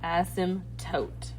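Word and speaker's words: asymptote: It's pronounced without uh silent P. Asmtote. Okay, asmmptote.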